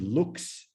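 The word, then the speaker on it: lux: if you know latin you know the word looks l-u-x and you see the direct or indirect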